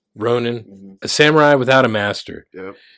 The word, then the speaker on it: ronin: he is a uh a ronin or a ronin however you want to pronounce it uh it's Ronan a samurai without a